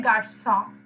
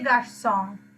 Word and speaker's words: garçons: So for that you use des garçons. Okay, although you are adding s at the end to make it plural, you don't pronounce it. Normally s's at the end of the words we don't pronounce.